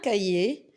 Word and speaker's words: cahier: Aussi, on peut trouver le H dans des lettres, dans des mots, je m'excuse, qu'on ne prononce pas, comme le mot un cahier, d'habitude, aujourd'hui et le bonheur.